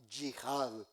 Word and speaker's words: yihad: Esta sexta columna se llama yihad, Y latina, H-A-D, yihad.